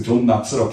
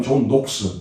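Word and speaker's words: John Knox: 이건 그 락스고 이 사람은 낙스, 존 낙스라고 KNOX라고 해요. 근데 읽을 때는 낙스로 읽어요. 존 낙스라고. 혹은 영국 본토 발음은 존 녹스. 그 사람들은 오로 발음한다.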